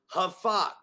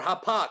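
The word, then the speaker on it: הפך: Hebrew amen that word turned into Hebrew is haak I want you to say haak okay that's that's how you pronounce it all right or hapak how about that hapak and that word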